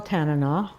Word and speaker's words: Tanana: And but he did teach us important things, which was that you pronounce Tanana, Tanana, and you pronounce the China, and really important things.